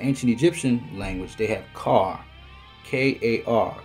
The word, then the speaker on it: Kar: So in the ancient Egyptian language, they have Kar, K-A-R, because in the ancient Egyptian language, they didn't have an L. The pronunciation of the sound would be the R.